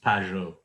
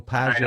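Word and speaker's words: Pageau: of the conversation, but the correct pronunciation is Peugeot. Oh, Peugeot. I'm a native French speaker to it, but it's Peugeot.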